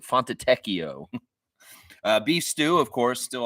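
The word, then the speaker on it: Fontecchio: thei Simone fono font fono font teio that's how you say it I've heard Matt say it on the air it's like font teio beef stew of course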